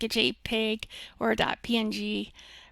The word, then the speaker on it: PNG: In other words, a square, small-sized picture like a JPEG or a .png, pronounced ping, image.